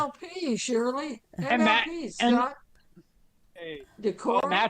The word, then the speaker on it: Decorah: Decorah. That's actually exact exactly how you pronounce it. Decorah.